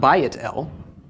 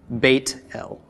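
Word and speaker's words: בית אל: whatever you have okay so beth-el okay place that Jacob named means house of God it's not by Adele but it is Beit el okay right because it the bait is in the construct state it's the first part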